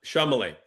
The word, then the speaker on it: Chalamet: How do you pronounce his last name? Uh Chalamet.